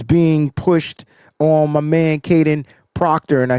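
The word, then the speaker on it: Kadyn Proctor: So, let me get it right cuz he has a weird spelling of the of where the letters go in the name. weird spelling of where the letters go in the name, but it's still pronounced Kaden Proctor.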